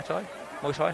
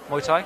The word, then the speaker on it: Muay Thai: Do you wrestle and fight in Mai? Muay Thai. How do you say it? Sorry. Muay Thai.